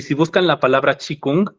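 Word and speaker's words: qigong: si buscan la palabra chikung que se escribe q I g o g Sería más como kiong sin la u si lo buscan se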